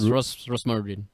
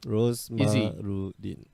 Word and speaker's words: Rosmarudin: It's Rosmarudin. Yeah, Rosmarudin. Looks how it spells. Sounds how it spells.